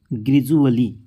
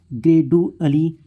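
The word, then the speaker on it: gradually: तो यहां पर देखिए जैसे कि ग्रैजुअली क्या पढ़ते हैं इसको हम ग्रेज इसको हम ग्रेड अली इस प्रकार से हम नहीं पढ़ते फिर जैसे कि ये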